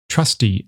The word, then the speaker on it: trusty: Trusty ends with the shorter unstressed vowel.